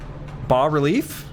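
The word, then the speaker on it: bas-relief: Fast relief is actually French. You don't pronounce the S. B relief.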